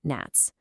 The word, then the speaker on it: gnats: Look at the wordnat becoming gnats. The G completely disappears in pronunciation. It acts as the silent ghost consonant that shapes the word completely invisibly.